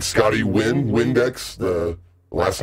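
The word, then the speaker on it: Nguyen: the name is per as far as I know the name is pronounced win so Windex is the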